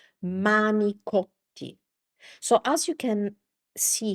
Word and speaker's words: manicotti: Uh in Italian, that word is actually this. The correct word is actually this. manicotti manicotti So, as you can see here, what happened is this.